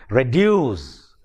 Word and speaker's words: reduce: the same way in words like reduce reduce it has two syllables and the second syllable is stressed reduce now number one